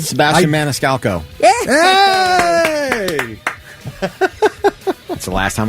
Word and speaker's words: Maniscalco: Sebastian Maniscalco.